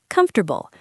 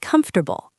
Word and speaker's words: comfortable: Word three, comfortable. Many people say every letter, but we often say comfortable.